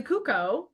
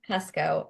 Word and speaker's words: Kucko: Katie Schubert, but we also have a special guest today, Carly Cuco. I'm saying your name right, last name right, correct? It's pronounced Cusco, actually.